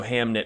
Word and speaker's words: Hamnet: Hamnet and Hamlet were identical. They were the same name back in olden days. Uh they were pronounced the same. So Hamnit Hamlet, it's the same thing.